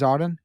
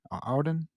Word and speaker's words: Auden: out loud Auden the the poet it is Auden Auden okay um he's writing to the poet and